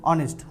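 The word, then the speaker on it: honest: আ যখন আ উচ্চারণ আসছে মানে কি এর উচ্চারণ আসছে তাই জন্য এটা কি হবে আওয়ারের সাথে এন বসবে তারপরে দেখ অনেস্ট তো অনেস্ট এর মধ্যে দেখ এটাকে অনেস্ট পড়বে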